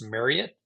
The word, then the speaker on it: Marriott: there behind State Farm actually it's technically pronounced Marriott like you get married to it um so the Marriot